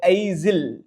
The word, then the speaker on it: aisle: The heading is here, you can see that wide aisle. Actually S is silent, wide aisle అంటామండి.